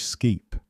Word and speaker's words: sceap: The farmer raises a sheep, Old English skeep, but the lord eats mutton, from French mouton.